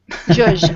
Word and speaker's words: zhuzh: How do you spell that? Zhuzh.